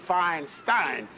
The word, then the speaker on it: Feinstein: juice definitely Ocean Terrace definitely fine Steen except she pronounces it fine Stein Harriet Feinstein you want